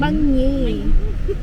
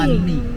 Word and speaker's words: bánh mì: Banh mì. Yeah, Banh mì. like that. Bánh mì. It's not Bánh mì. bánh mì.